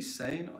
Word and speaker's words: Seine: And it could be Seine and again, if you prefer to pronounce it like yeah, that. Sure. But there's Seine.